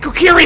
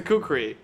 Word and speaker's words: kukri: Fuck it, Kukiri him! Oh! I found out how that's pronounced, that's a Kukri. There is no I there.